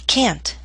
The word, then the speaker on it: can't: What you need to listen for is whether I say a final T or a glottle stop. Are you ready? He can't.